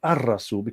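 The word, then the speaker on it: الرسول: that blend for example in spoken arabic al rasool the prophet is pronounced as ar-rasul ra is the blending sun letter is also an egyptian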